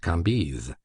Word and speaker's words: Cambis: There were in Madame de T.'s salon some very noble ladies named Mathin, Noé, Lévis, Levis, which was pronounced Lévis, Cambise, Cambis, pronounced Cambise.